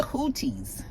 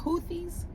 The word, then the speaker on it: Houthis: They were all on this chat, and they basically were discussing planned strikes against the Houthis. Houthis? Is that how you say it? Houthis? Houthis? I think it's Houthis.